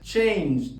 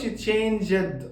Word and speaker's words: changed: لو اخر صوت ده فويسد وضفنا الاي دي، في الحاله دي ما بننطقش الاي اطلاقا وبننطق الدي دي زي ما هي. فعلى سبيل المثال بنقول changed، ما بقولش changed غلط، بقول called.